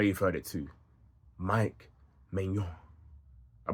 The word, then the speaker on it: Maignan: Mike Maignan. I pronounce it right, guys.